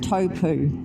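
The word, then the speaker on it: Taupō: We bypassed actual Taupo today, although I think now they pronounce it Taupu, which is not how I pronounced it when I grew up.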